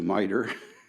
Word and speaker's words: MITRE: is thanks to cyber thanks to mitre rhymes with cyber right yeah but thanks